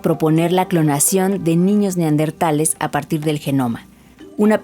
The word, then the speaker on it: neandertal: gente haya aprendido que no se dice neardental porque lo escuché más de una vez en el radio cuando dieron la noticia sino neandertal pero también me parece